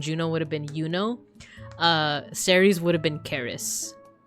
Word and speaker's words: Ceres: her Roman name is Ceres. Actually, it's pronounced Charis, but in like, at least in American English, I don't know about British and Australian and New Zealand English, but I've heard Ceres, Charis.